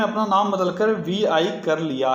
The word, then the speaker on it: Vi: अगला क्वेश्चन है, किस टेलीकॉम कंपनी ने हाल ही में अपना नाम बदलकर VI कर लिया है? तो VI, इसको V प्रोनाउंस करते हैं।